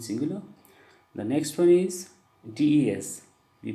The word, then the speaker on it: des: The next one is des. We pronounce as they.